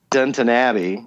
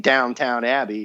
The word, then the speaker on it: Downton Abbey: next 36 episodes of Downton Abbey, as I was told to pronounce it, because I keep saying Downtown Abbey, and that sounds like a hooker down on the street.